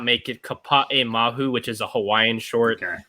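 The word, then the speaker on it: Kapaemahu: I will just say I have to correct pronunciation from last episode. The short that I'm bummed did not make it Kapa'e Mahu, which is a Hawaiian short, which was like on track to be nominated.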